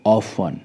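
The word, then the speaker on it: often: एन इसकी spelling है लेकिन लास्ट में टीई एन है तो टीई एन के वजह से जो टी है व साइलेंट रहेगा हम इसको पढ़ेंगे ऑफ वन हम इसको पढ़ेंगे ऑफ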